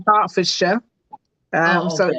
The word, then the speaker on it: Hertfordshire: Yeah, I had a little giggle there because you said Hertfordshire. We Uh-huh. say Hertfordshire, Oh, so okay, it's just in the pronunciation.